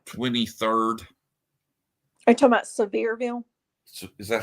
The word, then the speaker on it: Sevierville: uh did you know they found remains in seversville on August 23rd are you talking about Sevierville so is that how you say it yeah